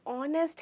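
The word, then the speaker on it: honest: इसकी स्पेलिंग इसी तरह है, वो एच से, इसलिए हम ऑनेस्ट बोलते हैं क्योंकि हमारा लेटर जो एच है वो साइलेंट हो जाता है, इसलिए हम कैसे बोलते हैं?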